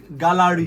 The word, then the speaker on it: GÁLÁRÌ: So the name GÁLÁRì is Yes. when a Yoruba man, Yoruba people have a way of pronouncing words with tonation and also it's GÁLÁRì. They enunciate Exactly. everything.